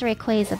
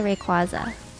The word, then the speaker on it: Rayquaza: legendary is um ray i know it's pronounced rayquaza but i say rayquaza pronounce it wrong apparently i think that